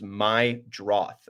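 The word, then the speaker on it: Meidroth: My bad on that. The pronunciation is my Droth, according to Baseball Reference.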